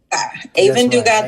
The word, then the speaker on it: Aevin Dugas: I think I know how to pronounce it right. Aevin Dugas. Aevin Dugas, the S pilot.